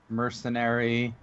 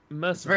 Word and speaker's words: mercenary: different accent you get it's a mercenary versus mercenary that's the someone in the chat no no I mean the the accent is on a different syllable not Jack and I